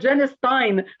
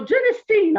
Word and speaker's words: genistein: yeah i learned something i learned how to pronounce genistein i always said jenna stein nobody ever told me so genestein i will try to remember that that's how